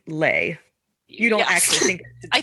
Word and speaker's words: Leigh: But Leigh Bardugo, every time I read Lee, Leigh, I think it should be slay, like Sleigh. Well, you think it should be lay.